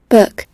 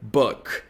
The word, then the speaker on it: book: Book. Esse som ele é meio estranho. Então, como a gente não conhece esse som, como é um som de vogal da língua inglesa, que não existe na língua portuguesa, o que a gente